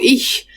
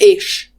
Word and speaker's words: ich: Ich is ich. It's not ish. I know it's not ish, but you said it differently for the first time. Ich.